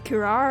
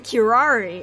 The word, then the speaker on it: curare: Is it actually Kurar or is it Curare or something? Curari. Curari. It's actually Curari.